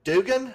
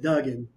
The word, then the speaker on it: Duggan: say it Hacksaw Jim Dugan I think it is is that right up there at the very top for me we pronounce it Duggan if that's good for you yeah Hacksaw Jim Duggan